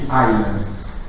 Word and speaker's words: island: En fait, en anglais, on dit island, donc sans le S, qui est pourtant présent dans la graphie.